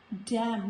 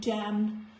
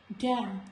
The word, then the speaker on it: damn: Here also when letter N comes after letter M, it is silent, like autumn, not autumn, autumn, column, dam, not damned, dam, him.